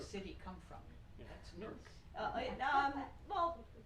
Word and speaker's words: Newark: It's bringing up the pronunciation and then another internal debate. I live in Newark, and when people that don't have roots in